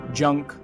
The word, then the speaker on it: Junked: Junked, pronunciation junkt, meaning complete idiot, utmost moronic.